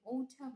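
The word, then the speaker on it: autumn: হচ্ছে শরৎ মানে ওঝাম এখানে আমরা এন এর উচ্চারণ করবো না এখানে যদি বাংলায় বলতে যাই তাহলে ওঠাম নয় ওঠাম হবে যেমনটা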